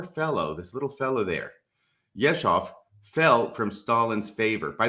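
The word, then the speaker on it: Yezhov: 1938 this poor fellow this little fellow there yeshov fell from stalin's favor by the way it's y-e-z-h-o-v is how you spell it yeshov fell from stalin's favor after being usurped by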